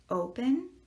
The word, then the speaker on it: open: of the way okay so let's say the words do we say open or do we say open if we say open we will do this open or we would say open well we do not say open we say open so we are accenting the first syllable open well guess what